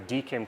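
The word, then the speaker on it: DKIM: geek em key and I pronounce that DCAM I don't know if either everyone else does it's like digital key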